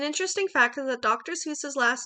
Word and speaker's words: Seuss: Seuss's last name is German, and the actual pronunciation of Seuss rhymes with voice. However, the American pronunciation rhymes with juice, and that is what has stuck.